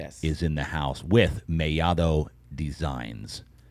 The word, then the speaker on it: Mellado: How's that pronunciation? That's pretty good. That's perfect. That's perfect. You see what I'm saying here? Like the normal gringo is going to say Mellado. Yes. Right? They look at 2 L's and say Mellado, but not me.